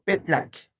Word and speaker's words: petatl: Realmente esta es un sonido compuesto que suena más como un chasquido. Tiene que ser como petlac.